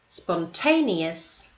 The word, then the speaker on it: spontaneous: Persistent, bright, thorough, sensible, capable, spontaneous, conscientious. So notice in the last two words, these are multi-syllable words, and the stress is on the second last syllable.